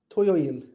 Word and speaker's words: 토요일: 토, To, 요, yo, 일. toyoil.